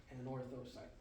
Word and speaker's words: anorthosite: Gotta get anorthosite. It's 4 syllables, anorthosite.